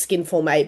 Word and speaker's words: Skin Forme: the Skin Forme Academy, which is pronounced Skin Forme, but it's spelt Skin Form with an E on the end and an accent over the E.